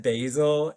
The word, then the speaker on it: basil: Do you know like do you know that basil is not pronounced basil in like the UK? as just went last summer and they were saying Basil and I felt like I was in a movie.